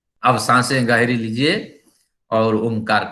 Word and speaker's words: ओंकार: यानी 100% अगर ओंकार का उच्चारण करेंगे तो अ और म के जो